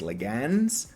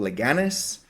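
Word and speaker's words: Leganés: to pronounce this correctly I think it's legans or leanis something like that l e g n e s now my Spanish pronunciation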